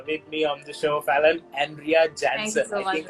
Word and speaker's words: Falan: to have you with me on the show, Fallon, Andrea Jansen.